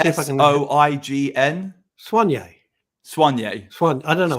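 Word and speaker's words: Soign: Spell it again. I want to see if I can. S-O-I-G-N. Swanye. I don't know. Swanye.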